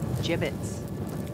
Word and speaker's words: gibbets: out of here hey look avery had some gibbots left over gibbets what it's pronounced gibbets are you sure yeah well no one likes